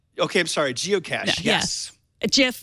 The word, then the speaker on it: GIF: Well, it's graphic interle format, so I would say graphic. GIF. Right. But then the guy who created it says it's GIF.